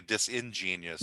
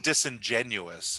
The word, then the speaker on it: disingenuous: genius by being a dis ingenious i think you mean disingenuous as opposed to disingenious i guess i always